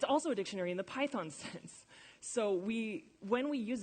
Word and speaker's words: Python: So a 1 is a stressed syllable, Python. A 0 is an unstressed syllable, and this indicates that we say it Python and not Python.